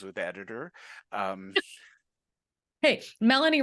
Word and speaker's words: Melanie: Hey, Melanie rhymes with felony.